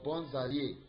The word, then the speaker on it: bons alliés: So here now, in this pronunciation, you do the liaison. That is, you join it. This bon, that S you just join it as you call it Z, and you join it to that A of allié.